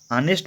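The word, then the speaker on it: honest: क्यों, क्योंकि ऑनेस्ट भले ही एच से शुरू हो रहा हो, लेकिन इसका प्रोनाउंसिएशन क्या है, ऑनेस्ट। ठीक है, तो इस वजह से ऐसे इसका प्रोनाउंसिएशन से क्लियर है कि इसका प्रोनाउंसिएशन ऐसे हो रहा है कि जैसे कॉन्सोनेंट हो। ठीक है, तो इसके लिए 18वें का ऑप्शन नंबर क्या है, ए सही है। ठीक है, देखिए, एच से नहीं देखना हमको, इसके प्रोनाउंसिएशन से देखना है।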